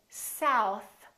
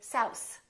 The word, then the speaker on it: south: give you an example some people instead of saying South they say sa s because they're pulling in their tongue too much so make sure that your tongue touches the teeth it doesn't have to be very visible you don't have to say south if you speak like